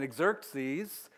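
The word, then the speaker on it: Xerxes: different names for him so one is hazarus and that would be the Hebrew uh way to say his name and then exerts these which is a Greek uh way of his name and so you've got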